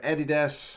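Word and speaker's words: Adidas: uses because they're all made by Eddie which is how we pronounce that in New Zealand 149 99 unless you're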